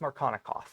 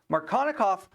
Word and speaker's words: Markovnikov: But I've heard it pronounced Markovnikov.